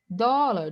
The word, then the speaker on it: dólar: Dólar, dólar está errado, por quê? A sílaba tônica é dó, né?